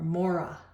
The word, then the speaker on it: Maurya: And so now we have what the Morai, or Mora, pronounced right, Mora Empire.